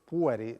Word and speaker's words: pueri: 30 anni dei pueri perché l'accento va sulla e pueri giusto maestra imparato subito